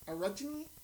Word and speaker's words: orogeny: people who are able to have what's called orogeny. Orogeny. I looked up how to pronounce that, and I can't even tell you